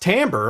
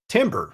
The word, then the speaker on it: timbre: exactly well i never knew that it was pronounced timbre i always pronounced the word timber because that's kind of how it looks and